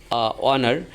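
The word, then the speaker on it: honour: অনার এখানে এইস থাকা শর্তেও তার উচ্চারিত হয় নাই।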